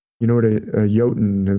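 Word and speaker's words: jötunn: goes fishing with a yotan you know what a yotan is like a giant a frost giant it's spelled with a J but they pronounce their J's like a Y and Scandinavia so Jo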